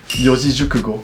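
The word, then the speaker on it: 四字熟語: Attends, tu peux le prononcer comment tu dis? Yojijukugo.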